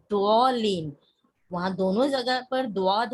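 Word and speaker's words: ضاد: वहाँ दोनों जगह पर दुआद है. यस, दुआत का प्रोनाउंसिएशन अरबिक में जो है ना वो दुआद ही है. द और उर्दू में हम उसको ज़ौ पढ़ते हैं.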